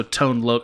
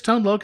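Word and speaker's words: Tone Lōc: pi thing and so tone look are you sure it's tone load is that really true tone look 100 percent okay wow i should have been completely saying it wrong my entire life would you i'll accept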